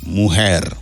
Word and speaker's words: mujer: Mujer. Mujer. Vous entendez son J à mujer, qui c'est femme.